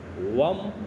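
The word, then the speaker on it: वं: बीज मंत्र जो है वह है वम व के ऊपर मैं की मात्रा व के ऊपर बिंदी लगती है तो व की के ऊपर वव जाएगा शब्द इसका उच्चारण भी ऐसे ही बनेगा वम ध्यान वही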